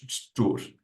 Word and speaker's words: szczur: And the actual pronunciation is szczur, something like that.